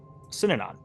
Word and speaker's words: Synanon: Can you pronounce the name for me again? The Synanon. The Synanon. Synanon.